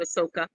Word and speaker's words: Ahsoka: how we pronounce it, Ahsoka.